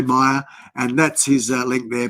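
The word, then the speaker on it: Myr: And this is a friend called Meyer, M-Y-R. That's his surname, or the name that we speak, because his first name's a little bit complicating for me to pronounce. So we just say Meyer, and that's his link there.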